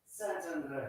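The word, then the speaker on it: Szentendre: How do you pronounce the name of this place? Santander. Santander, in just outside Budapest in Hungary.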